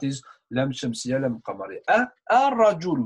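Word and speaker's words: الرجل: Al-rajul, we don't spell lam, we don't say it, it's silent.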